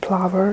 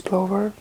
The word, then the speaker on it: plover: It's not plover, it's plover, hopefully.